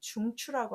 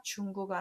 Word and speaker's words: 중추: 근데 구가 아니라 추 발음하니까 단어로 꼭 중추라는 단어로 외우셨으면 좋겠습니다. 중구가 아니라 중추 뭐 이런 식으로.